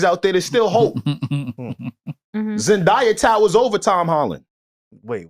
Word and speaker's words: Zendaya: Zendaya towers over Tom Holland. Wait, what's her name? Oh, I'm bugging. That's how you say it? Zendaya?